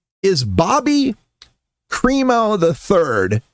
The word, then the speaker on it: Crimo: Oh, and by the way, the guy's name is Bobby Kremo III. And Kremo is spelled C R I M O. He's got Krimo right there in his name.